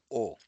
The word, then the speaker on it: を: So you know this alphabet this character in hiragana this is actually VO but it is pronounced as O.